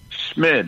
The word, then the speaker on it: Schmid: Is it Schmid, Tristan? Schmid, yeah, it's without the T.